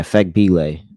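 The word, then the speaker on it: Fagbenle: And then um what's the other backup power forward, like Fembile? Fagbile? Let me see how you pronounce her name. Where's she at? Yeah, Fagbile.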